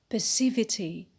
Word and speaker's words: passivity: the on the antiperspirant the word passive passive stress on power on the first syllable when we add the itty it becomes passivity perceivity and the last